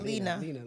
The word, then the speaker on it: Lena: I thought it was pronounced Luna Lena. I love how we're both connecting you on this porn stars. Yeah. I don't however IT'S PRONOUNCED. THANKS LENA. IT'S LENA.